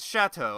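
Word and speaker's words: château: six seven seven Poltergeist chateau or is it Chateau I think it's Chateau you pronounce it like an sh oh this is a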